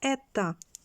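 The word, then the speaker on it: η: так А де механізму Ось така літера яка читається ета три в і повна механічна енергія тіла -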